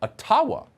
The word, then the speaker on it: Ottawa: let the mayor of ottawa or atawa as it's correctly pronounced ojibwa explain why peaceful truck